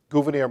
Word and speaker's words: Gouverneur: By the way, Gouverneur, it's not Governor Morris of Pennsylvania. It's Gouverneur Morris. Abigail Adams, who used to write phonetically, does write it that way, and I think that's the best that we have to pronounce his name.